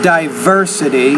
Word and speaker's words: diversity: Experience Humanity this is diversity the stresses on that third syllable actually the second diversity we what com people